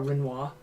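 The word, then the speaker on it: Rinoa: Oh, Renoa, okay. I call her Renoa. Some people are like really snobs and they call her Renoir. But I'm not going to do the French pronunciation.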